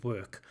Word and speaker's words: work: So these minimal pairs, two words that sound the same except for one sound. So walk, work, walk, work.